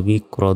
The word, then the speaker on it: بكر: বা কাফ জের বিক, র দুই পেশ রুন, বিকরুন। থামলে উচ্চারণটা হবে বিক্র।